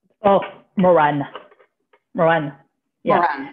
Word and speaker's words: Maurannes: how do you say your last name oh moran rowan yeah like m-m-o-r-a-n same way okay yes